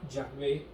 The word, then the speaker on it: Yahvé: no sabemos cómo deletrearlos la jota en hebreo se pronuncia y lo más aproximado era yahvé el problema es que